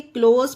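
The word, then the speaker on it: close: देखते हैं जैसे कि सी एलओस सी क्लोज इसे क्लोज पढ़ा जाता है अब देखिए एस के बाद ई है इसमें पर ई यहां पर साइलेंट है इसे क्लोज इसे एस को जा का उच्चारण दिया गया क्लोज एब्यूज एस के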